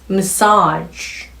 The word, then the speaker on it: massage: 호흡의 연결. massage. 지 하시면 안 됩니다.